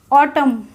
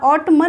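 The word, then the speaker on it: autumn: हम प्रोनंसिएशन करते हैं कैसे करते हैं देखिए आप ऑटम ऑटम एम एन साथ आए लेकिन हमने इसको क्या बोला ऑटम बोला ऑट मन नहीं बोला इसको क्या बोलेंगे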